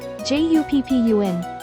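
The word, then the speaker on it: 十分: Replace this with PP, so it becomes PPUN. For Hachi and Ju themselves, do the same processing as the satsu example. Then add PPUN after, becoming HAPPUN 8分 and JUPPUN.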